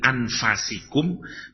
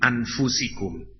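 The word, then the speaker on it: أنفسكم: Dari, bacanya ada dua, bisa dibaca min anfasikum, bisa dibaca min anfusikum.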